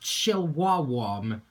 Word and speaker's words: Chillwawam: Its name is comprised of Chill, Chihuahua, and Warm, so it's pronounced Chillwawam.